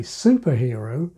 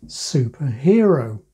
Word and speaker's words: superhero: Some say supernova, and yes, many say superhero, but many others say superhero.